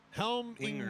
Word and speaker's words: Helmlinger: 2 syllables. Well, 3. Helm. Inger. Like effing helm. Effing helm. Inger. Helm Linger. Inger. Helmlinger. Helmlinger. Oh, not jur. Gur. Linger. Gur.